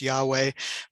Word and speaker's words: Yahweh: Vav He, the Tetragrammaton, at least majority times thought that it's pronounced Yahweh, but the important part here is that it conveys the merciful and compassionate side of God.